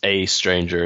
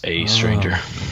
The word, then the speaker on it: aeStranger: dragged me in a second how do you pronounce a stranger it's just a stranger it's just that that's sort of letter combination so as a stranger it's just an interesting look for for the